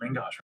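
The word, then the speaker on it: main-gauche: Oh, it's because he also has a main gauge. Yeah, he's stacking it on those guys. Can you pronounce that? Main gauge? Main gosh? Main gosh.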